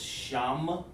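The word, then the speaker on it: שם: sham which means names it's pronounced like this sham shah well let's put it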